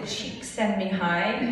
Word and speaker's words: Csikszentmihalyi: They say to pronounce it Csikszentmihalyi, and I don't know if anybody would correct.